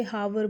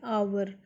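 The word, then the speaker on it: hour: It takes मी, कुछ बच्चे हावर बोलते हैं, आवर, इट इज़ आर, देखो एच साइलेंट है, OUR, तो एन आर।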